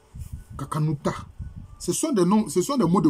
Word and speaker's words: Kakanuta: On peut dire Kakanuta. Parce que le N ici, ça renvoie au Nun. Kakanuta.